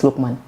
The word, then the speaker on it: Lukman: thanks for having me i keep pronouncing your name wrong it's lukman yes okay so tell us